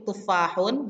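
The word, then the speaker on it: تفاحٌ: Nah, jadi di sini untuk tufahun jangan lupa ha yang di sini ini adalah ha pedas ya, haknya. Nah, lebih kental dalam pengucapannya tufahun gitu ya.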